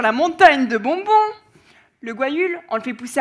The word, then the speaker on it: guayule: même mes chefs ils ont du mal à prononcer guayule eux et cette plante est produit une grosse